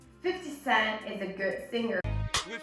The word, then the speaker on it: 50 Cent: So usually what a native speaker would do is actually the tongue would move as if you were going to pronounce the T, but then it is withheld, okay?